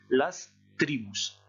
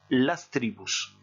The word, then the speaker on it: tribus: N'oubliez pas qu'en espagnol, le S à la fin des mots se prononce contrairement au français. Vous avez pratiquement le même mot en français, les tribus, et les tribus, il y a un S à la fin, mais qui ne se prononce pas. En espagnol, il se prononce, on dira bien las tribus.